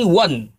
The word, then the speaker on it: one: Kalau di Inggris ini won.